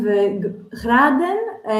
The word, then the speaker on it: graden: 25 graden reminds me of the degrees, if you change the order of the letters. And the pronunciation is a bit hard here. Graden. And the g and the r.